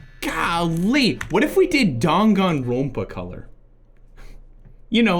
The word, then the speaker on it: Danganronpa: That's not how you pronounce Danganronpa. I'm gonna show you something. Danganronpa. Danganronpa. Danganronpa.